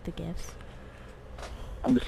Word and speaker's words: GIF: yeah I like the gifts I'm just like it's GIF like the peanut butter oh yeah I don't